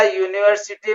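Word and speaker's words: university: इसी तरह यूनिवर्सिटी में यू वावेल है, लेकिन इसका साउंड कंसोनेंट है, इसलिए यूनिवर्सिटी से पहले ए यूज होगा।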